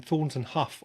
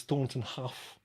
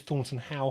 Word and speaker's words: Thornton Hough: I'm hoping I've pronounced that correctly, the same as Thornton Hough. I was calling it Thornton Howe for a while until somebody corrected me, but there we go.